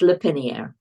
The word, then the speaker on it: Lerpinière: Would you pronounce it, please? It's Lerpinière.